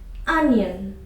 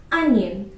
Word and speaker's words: onion: So it's a noun of course it's a name of a vegetable and if it is a noun the stress goes on the first syllable.